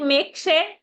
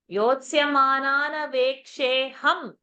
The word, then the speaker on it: योत्स्यमानानवेक्षेऽहं: योत्स्यमानानमेक्षेऽहं Is it make share? Open your eyes. Yotsamanan. What is written over there? योत्स्यमानानमेक्षेऽहं And why have we not how? That also I've corrected yesterday. How do you say? Yotsyamanana veksheham. So many times we correct. Every day for past 3 days we are correcting this.